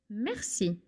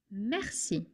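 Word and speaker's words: merci: We mercy. Mercy. The R is kind of is kind of smooth.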